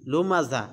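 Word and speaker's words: لمزة: টান নাই, কুল্লি হুমাজাতিল লুমাজা একটার মধ্যেও টান নাই। আচ্ছা, শব্দের উচ্চারণের ক্ষেত্রে লুমাজা হবে, লুমাজাতিল, লুমাজাতিল হবে না, কারণ এটা জিম না, এটা যা।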